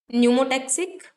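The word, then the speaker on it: pneumotaxic: हैं, एक होता है न्यूमोटेक्स, पी साइलेंट नहीं, न्यूमोटेक्सिस, न्यूमोटेक्सिक, और दूसरे का नाम होता है एपन्यूस्टिक।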